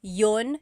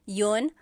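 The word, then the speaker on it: iyon: You might hear me saying yun yun as if there's no I and that's commonly how it's pronounced.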